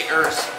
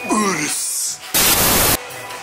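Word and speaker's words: Urus: Just like the Urs, you can't say Urs. It's Urs.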